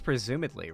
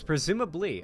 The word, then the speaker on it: presumably: Is it presumably or presumedly? I think it's presumedly, right? That's one of those words I always fumble the pronunciation of. It's presumably.